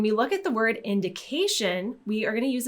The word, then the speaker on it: indication: lot easier to implement when we have a word with a tion ending we're simply going to stress the syllable right before so tion we're going to stress the syllable right before that ending so we're going to say indication so the syllable with K is going to get stressed indication so again when